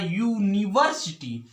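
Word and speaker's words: university: यूनिवर्सिटी student तो मिटा यहां पर अगर यह का उच्चारण किया जाता है यहां पर आप यूनिवर्सिटी यही कई पर आधुनिक यह यू नहीं है यार को इसमें छुपा हुआ है जब या इसमें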